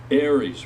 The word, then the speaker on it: Aries: Is it Aries? Right. Yes. Like the sign, right?